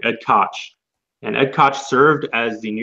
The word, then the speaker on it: Koch: The mayor here is Ed Koch, or my bad, I pronounced it wrong, Ed Koch.